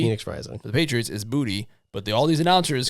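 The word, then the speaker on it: Boutte: that uh booty Phoenix Rising the Patriots is booty but the all these announcers continue to say bout that's not how he pronounce his name it's booty just say are they trying to be funny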